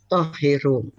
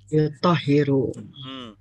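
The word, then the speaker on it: يُطَهِّرُ: Wala tohiru. Tohiru. Yang benar gimana? Mensucikan, bahasa Arabnya apa? Yutahiru. Toharo yutahiru. Ini polanya fa'ala yufa'ilu.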